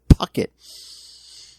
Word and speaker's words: Puckett: Lilith Hellfire's favorite, Puckett. Popping those peas. Puckett, yes, Puckett. Puckett. That's how we pronounce that.